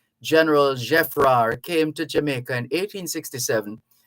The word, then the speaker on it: Geffrard: General Geffrard, it's spelled Geffrard, but because it's French, you don't pronounce the D at the end. General Geffrard came to Jamaica in